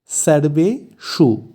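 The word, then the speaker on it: সর্বেষু: অর্থ ও এরপর আছে সর্বেশু এখানে স এর উচ্চারণ গুলো একটু লক্ষ্য করতে হবে যেহেতু দুটো স আছে প্রথমটি দন্তস তাই এর উচ্চারণ হবে সা আর শেষেরটি মধ্যন্য তাই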